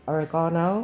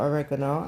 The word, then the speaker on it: oregano: So the dried herb that we've decided to go for is the oregano, or oregano as some cultures may pronounce it.